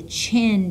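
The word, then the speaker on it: Qin: And he's going to call his dynasty the Chin Dynasty. Notice it starts with a Q, but I pronounced it like a ch.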